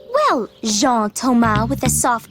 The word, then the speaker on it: Jean-Thomas: separated that zebra thing john thomas eh no zhang with a soft j well jean thomas with a soft j